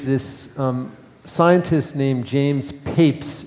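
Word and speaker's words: Papez: So another important figure in the history of research on emotion is this um scientist named James Papes it's pronounced papes uh and he was the first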